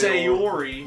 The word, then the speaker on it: Sayori: It's Sayori, Yes.